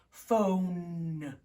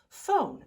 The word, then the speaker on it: phone: know what it's doing it's that silent e it tells the ode to make of the sound of its name oh oh phone all right well let's